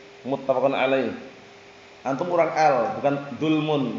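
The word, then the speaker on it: متفق عليه: Nam itu nanti bacanya muttafaqun alaih. Muttafaqun alaih.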